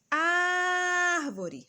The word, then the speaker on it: árvore: Árvore. Olha aqui separado. Última, penúltima, antepenúltima. Se é antepenúltima, ela é proparoxítona.